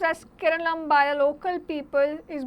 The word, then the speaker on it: Keralam: केरला pronounced as Keralam by the local people is bordered by the